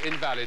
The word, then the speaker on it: invalid: Could be invalid or invalid, of course.